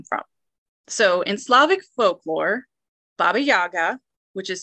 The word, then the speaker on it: Baba Yaga: So in Slavic folklore, Baba Yaga, which is spelled B-A-B-A-Y-A-G-A, mm-hmm. also spelled B-A-B-A-J-A-G-A. That's the Polish version. Sure. Okay. Kind of pronounced the same way, Baba Yaga.